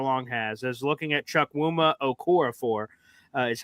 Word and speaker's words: Chukwuma Okorafor: I've heard a lot of people have the same take that Connor Long has, as looking at Chukwuma Okorafor, is how you pronounce it.